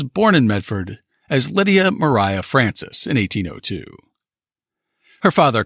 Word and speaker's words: Maria: the conquered fight Lydia Mariah Francis always hated the name Lydia so she went by her middle name which was spelled Maria but she pronounced it as Mariah she was the youngest